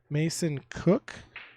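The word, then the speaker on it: Mason Koch: got to do is contact Mason Cook, and that's spelled MASONKOCH.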